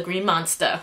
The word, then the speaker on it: Green Monster: and now at the green monster like like James said and you have to say it like that if you pronounce the r they kick you out of the the ballpark the ballpark they'll kick